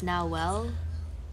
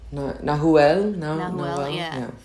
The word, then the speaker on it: Nahuel: And now, I can now pronounce, it's Nahuel. Nahuel.